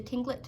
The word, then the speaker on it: Tlingit: Garvey said he was a Tlingit Indian, pronouncing Tlingit proudly with a clicking of his tongue, as if saying Tlingit.